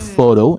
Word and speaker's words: photo: different syllable for example the word photo it it stretch in the first syllable and photo and then